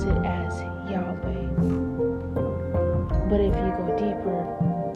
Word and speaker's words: Yahweh: It's spelled WHYHWH, Yahweh. And we pronounce it as Yahweh. But if you go deeper, it's really the sound of breathing.